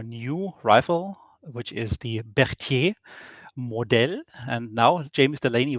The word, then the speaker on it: Berthier: give us the name there one more time bertier model 92 right and so this is basically